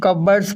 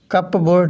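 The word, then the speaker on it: cupboards: याद रहे ये इस वर्ड को हम कबर्ड्स पढ़ते हैं, कबर्ड, कप बोर्ड नहीं पढ़ते, इसकी सही प्रोनाउंसिएशन कबर्ड्स है।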